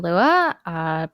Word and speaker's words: Luea: Hello, I am Luea, pronounced Luea, and I play KENARI.